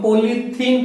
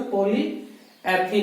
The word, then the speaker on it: polyethene: हम पॉलीथीन कहते हैं, ये यूज नहीं करते। बाकी इसका सही प्रोनाउंसिएशन पॉलीएथीन ही होता है।